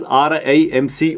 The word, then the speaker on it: RIMC: And some people call RIMC as RIMS. RIMC is pronounced as RIMC only.